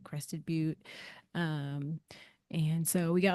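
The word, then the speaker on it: Crested Butte: Um, my partner like spent a lot of time growing up there in this town called like Crested But um, and so we got like a little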